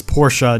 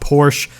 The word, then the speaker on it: Porsche: my best to learn my rule is to pronounce the name from the country of origin how they say it there so Portia is Portia not Porsche Lamborghini Gallardo is Guyardo not